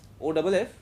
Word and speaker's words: of: In this OF you pronounce F precisely as F of. And in this one you pronounce it light and almost like V of. Okay. Of O V. See as if it is O V.